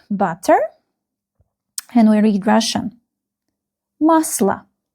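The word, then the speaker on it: масло: Musla. Musla. Musla. the same rule. This letter O is not stressed.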